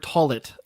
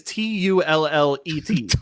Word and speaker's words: toilet: I don't want to hear you say the word toilet ever again. In my toilet. How do you say it? Toilet. What you're saying is TULLET.